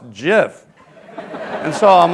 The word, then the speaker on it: GIF: format first came out I was calling it Jiff like GI everywhere else in the English language giraffe giant okay you name it GI is a soft G and then a bunch of computer people told me no you're it's you're wrong it's gif so it took me